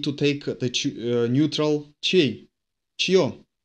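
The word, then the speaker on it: чьё: Чье. Че, soft sign, yo.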